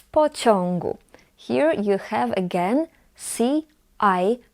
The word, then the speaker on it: pociągu: And before g, we pronounce it as on.